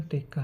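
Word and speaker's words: てっか: ही पड़ जाता है, अगर आप जापानीज में पढ़ोगे सही प्रोनाउंसिएशन टेक्का है। ते और का सू लग रहा है यहाँ पर, स्मॉल सू, तो का बन गया टेक्का।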